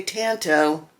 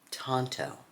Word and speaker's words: tanto: A lot of you guys say tanto. Tanto is how it's pronounced, kids.